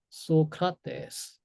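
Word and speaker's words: Σωκράτης: 다가 다시 볼 거지만 그다음에 폴리스 폴리스 그다음에 소카데스 소카데스 소크라테스예요. 저희가 잘하는 그 소크라테스인데 실제로 그들이 말했을 때는 소크라테스 이렇게 읽었을 겁니다. 따따다 이렇게 읽어야 돼요. 장단장 소크라테스 이렇게 자 그리고 이중모음의 경우에는 두 번째 요소에 표기합니다.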